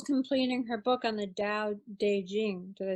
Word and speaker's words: Dao De Jing: Yeah, and Nicole's completing her book on the Tao Te Ching.